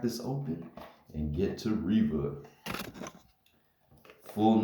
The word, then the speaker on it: Reva: can see it but yeah her name is pronounced Riva the survander already out of the package or